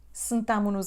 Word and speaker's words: sentámo-nos: Sentámo-nos aqui. Sentámo-nos aqui. O som E vai cair, não é sentámo-nos. Sentámo-nos aqui. Também a letra S, no fim do verbo, vai desaparecer.